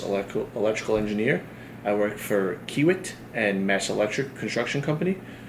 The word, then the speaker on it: Kiewit: You said you work for Kiewit. Kiewit. So, Kiewit.